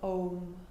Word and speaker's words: Om: Pause your playlist and conclude in the sound, the syllable of Om. A-U-M, A in the belly, U in the chest, M in the head.